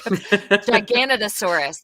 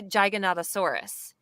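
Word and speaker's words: Giganotosaurus: me a couple like a ganna thesaurus that was the hardest one for me i wanted to say gigantosaurus but i had to retrain my brain to think gigantosaurus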